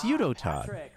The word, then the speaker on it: Udotan: Isn't really does he want it pronounced Udotan? It's Udotan.